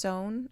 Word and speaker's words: Sonne: I believe it's pronounced Sonne. If it's not, I'm really sorry.